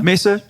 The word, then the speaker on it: Mesa: Is it pronounced correctly? Mesa. Mesa.